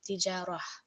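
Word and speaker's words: تجارة: So we see here the example is tijaratan, and on pausing it will become tijarah. So it will be ha with a sukoon at the end.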